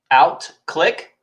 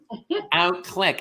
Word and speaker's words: Outclique: Outclique, just like a mouse or a camera. Outclique.